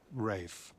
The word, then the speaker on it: Ralph: I would have handled it differently, but Ralph Bleeker. It's pronounced Rafe and it's General Bleeker to you, sir.